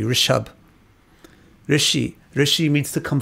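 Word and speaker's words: ऋषभ: It mispronounced in many cultures as Rekab, but it's really Rishab.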